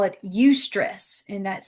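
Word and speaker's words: eustress: What we know is that those high standards create that healthy discomfort that as we call it ustress and that's spelled eu s t r e ss that's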